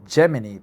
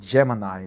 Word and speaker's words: Gemini: I thought Google Geminy but Google G both are correct. Google Geminy or Google Gemini but most of the people pronounce it Google Gemini.